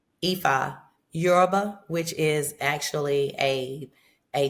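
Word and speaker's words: Yoruba: Epha Euroba, which is actually a a tribe in Africa as we know the continent of Africa. So, um Euroba.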